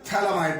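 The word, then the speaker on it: phthalimide: यहां से लिए PH, ये स्पेलिंग है थैलेमाइड की, PHTH है ये, यहां ठीक करिए इसको, PHTHALIMID, N alkyl थैलेमाइड। Spelling का खास ध्यान रखें, PHTHALI थैलेमाइड।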